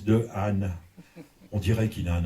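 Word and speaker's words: Dehaene: Mais le monsieur de Anne, son nom, ça se prononce de N. Pourquoi il veut absolument qu'on le dise de Anne?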